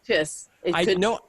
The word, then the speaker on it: Chis: Kiss? Chiss? I'm going with I don't Kiss. know. Is it a typo? No. Kiss. I checked it online. I Googled him, and it is Kiss Hodges.